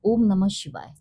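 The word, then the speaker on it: ॐ नमः शिवाय: For example जैसे मैंने बोला आपको ओम नमः शिवाय, ओम और नमा में जो गैप आता है वही नमा और शिवाय में आना चाहिए। जो डिस्टेंस और ड्यूरेशन है सेम ड्यूरेशंस रहने चाहिए।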